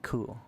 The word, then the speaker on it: coup: In an attempt in an attempted coup, I think you're supposed to say cool, right? Cuz ka not cool, but you know, feels feels wrong to say to see the P and not pronounce it.